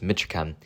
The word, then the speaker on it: Mitra Chem: to learn about mitram I often pronounce it mitm but it's miten it's easy to see